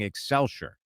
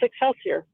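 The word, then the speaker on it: Excelsior: I I will stop messing this up because I think I've been saying excelsure, which is wrong. It's excelsier. All right, Beth. Thank you. Go to Vagabondo, Brad. Excelsier. Excelsier. I don't know why I always thought it was Excelsure.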